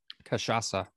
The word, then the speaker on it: Cachaça: Cachaça.